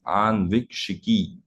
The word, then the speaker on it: Ānvīkṣikī: I'm sure people who have not heard it for the first time, there will be a little challenge in terms of pronunciation. But then if you read the Sanskrit word properly, you will be able to pronounce it right.